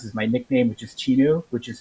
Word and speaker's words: Cheenu: know you and next we're going to meet chinu who i met i guess about a year